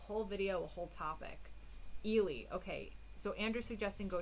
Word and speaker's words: Ely: now yes post link so ely not eli not ellie ely okay um honest says